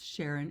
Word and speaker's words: Charon: And Sharon, I think it's Sharon. It's spelled Charon.